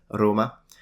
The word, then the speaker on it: Roma: you've been to Rome how do Italians say that then you can say oh yeah it initially it's pronounced Roma I really like how